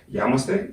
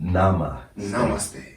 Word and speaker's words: namaste: Yamaste? How do you say it? Namaste.